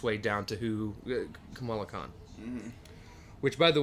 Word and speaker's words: Kamala: Which, by the way, I'm so irritated at all of you that call her Kamala. It is Kamala. Right, Kamala. Right. Put the right emphasis on the right syllable.